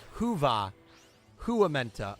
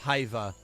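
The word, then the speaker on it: hyvää: Sid forgot to mention the Y is pronounced like a u so you pronounce it like Hua Hua oh I gotta so instead of hia it's Hua Hua Hua Hua Hua good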